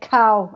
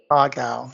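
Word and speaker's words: 蝦餃: And ha gao, I'm so glad you said ha gao because a lot of people say cow and spell it cow, but it's Uh, G. ha gao.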